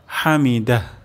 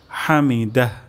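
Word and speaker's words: حمده: যেতে পারে হামিদা তাহলে এখানে আমরা হা উচ্চারণ করব গলার মাঝখান থেকে হামিদাহ হামিদাহ এবং শেষেও একটি গোল হা উচ্চারণ হবে হামিদাহ সামি আল্লাহু লিমান হামিদা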